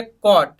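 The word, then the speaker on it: caught: बाय की second form में ये फोर्थ देखिए कोट कैच की सेकंड और थर्ड फॉर्म कोट होती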